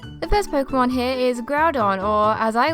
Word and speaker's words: Groudon: case let's begin the first Pokémon here is Groudon or as I like to call it when I was little ground on I saw that it was a ground type